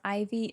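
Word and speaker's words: Ivie: My name is Ivy in game, but it's spelled I V I E space, which is a uh Taylor Swift reference.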